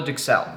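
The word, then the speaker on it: duxelles: Now, while we let that tenderloin come up to temperature, we're going to start with what's called a Dixel. That's spelled D U X E L L E S.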